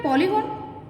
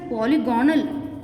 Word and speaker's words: polygon: What do you mean by polygon? You people are pronouncing it as polygonal. It is not polygonal. It is polygon.